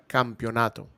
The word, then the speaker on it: Campeonato: It sounds like you said camp. The Mega Campeonato. So they're fighting in a camp. Camp. Here we go. I'm going to teach you some Spanish. Ready? Pronounce this after. Sure. Repeat after me. Mm-hmm. Cam. Pio. Nato.